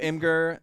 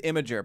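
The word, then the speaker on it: Imgur: it I think so I used to think it was imager but I think that's wrong there's no I've saying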